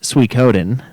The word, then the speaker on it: Suikoden: Yeah, also, Suikoden is pronounced Suikoden.